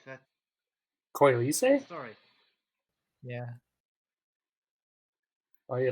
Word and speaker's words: Coylise: Oh, right, that Coylise? story. Yeah. Are you like Italian or something? Sorry, Mhm. what? It's like an Italian pronunciation.